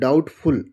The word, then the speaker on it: doubtful: DOUBTFUL डाउटफुल, डाउटफुल मतलब होता है संदेहजनक।